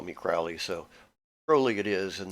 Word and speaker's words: Crowley: name is holy or his name is crowley and it rhymes with holy and he said something of that nature himself those who wish to re treat me fowley call me crowley so early it is